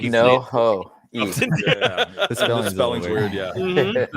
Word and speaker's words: Nojoqui: Nojoqui. Mm-hmm. Okay. I just like no-ho.